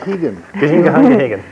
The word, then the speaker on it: Gagan: Hegan. Rhymes with Reagan.